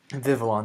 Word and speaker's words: Vivillon: Vivillon, that's how you pronounce it.